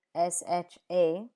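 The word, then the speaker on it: chat: For example, cat, which is sha in French, is taught using the English script sha.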